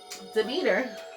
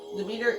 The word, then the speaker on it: Demeter: Demeter, I think that's how you say it, yep. Demeter, the Greek goddess of fertility, was represented by